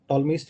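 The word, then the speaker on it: Ptolemy: और शायद आप लोगों ने एक पढ़ा हो टॉलमीज थ्योरम। अगेन कभी कभी अपन इसका यूज ले सकते हैं, इसमें P साइलेंट होता है ना?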